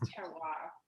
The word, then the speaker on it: terroir: It is terroir.